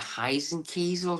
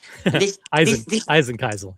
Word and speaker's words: Eisenkiesel: The Heisenkiesel, the Heisenkiesel. Eisenkiesel, yeah.